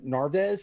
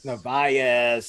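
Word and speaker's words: Narváez: It's Omar Narves. Did I say it right, Case? Narvaez.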